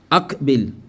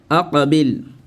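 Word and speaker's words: أقبل: Aqabil. Ça va? Avec la règle de qalqala, ça donne quoi? Aqabil et non akbil.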